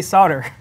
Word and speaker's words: solder: and colonize this country so that we can pronounce things te in the harbor so we could say solder that's what happened the answer to your question